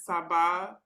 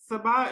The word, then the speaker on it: Sabaah: so It, how my mom would pronounce it is Sabaah. So it's kind oh, of, if you Sabah is close, but if you just make the more of an ah, Sabah, the mhm. two syllables rhyme.